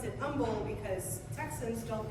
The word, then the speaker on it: Humble: like it should be pronounced Humble, but we pronounce it Humble because Texans don't pronounce any of our place names correctly.